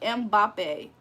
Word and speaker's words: Mbappé: It's pronounced like Mbappe.